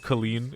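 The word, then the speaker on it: Kolín: The the town he's from, Thomas of Colleen. It's spelled It's It looks like it's spelled Colin.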